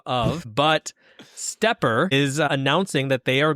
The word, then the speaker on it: SteppIR: This is a company I only recently learned how to pronounce the name of, but Stepper is announcing that they are going to be leaving the amateur radio consumer market.